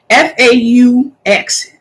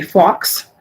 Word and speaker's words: faux: the word is faux oftentimes people say fox and it's not it's just oh um so I just